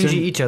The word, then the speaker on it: Junji Ito: How do you pronounce it? Junji Ito, like the famous manga artist.